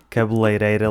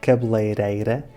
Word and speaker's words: cabeleireira: Aqui a dificuldade é com a letra R, por isso é que há muitas pessoas que dizem cabeleireira. Mas já agora eu tenho um pequeno truque para pronunciares este R se falares inglês. Muitas pessoas não se apercebem de que o R da palavra cabeleireira é exatamente o mesmo som do D e do T quando estão entre duas